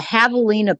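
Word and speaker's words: javelina: in Arizona is uh havalina pigs. It's but it's spelled with a J. J A V E L I N A Havalina pigs.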